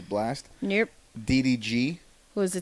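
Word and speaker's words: Blxst: got the other people oh two c uh blast which is spelled b-l-x-s-t so i'm guessing it's blast nope ddg who was the 10th spot winner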